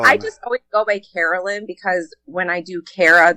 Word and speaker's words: Caralyn: A lot of people call me Kara, so it's pretty much like how you look at it, Caralyn.